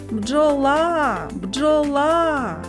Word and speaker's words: бджола: складів скільки голосних звуків визначимо куди падає наголос покличемо бджола бджола наголос падає на звук а наступне слово джинси запише